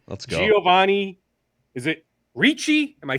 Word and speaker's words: Ricci: Is it Ricci? Am I saying it right? It is. Giovanni Ricci.